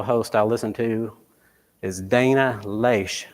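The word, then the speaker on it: Dana Loesch: I'll listen to is Dana leash and I believe that's how you pronounce her name she has a show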